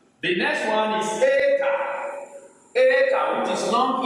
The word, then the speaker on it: eta: And eta sounds as A as you pronounce the A in eight.